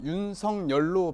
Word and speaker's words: 윤석열: 많이 발음할 고유명사가 토해요 어 엔코 께서는 항상 윤성 열로 발음 하시잖아요 예전의 그 어린 시절부터 친구들이 성령으로 불렀다는